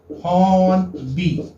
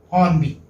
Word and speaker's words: Hornby: Okay, this is pronounced as like this. Hornby, you may say. Hornby.